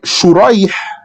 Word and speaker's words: شريح: Like Shurayh, the son of An-Nu'man, versus Surayj, the son of An-Nu'man. So same script, but Sheen has 3 dots, Sin has no dots.